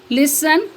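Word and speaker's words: listen: next है silent T टी इज not pronounced T pronounce नहीं किया जाता या टी आवाज नहीं देता in these common words in आम अल्फाज में for castle फसन लिसन on Sical विसल next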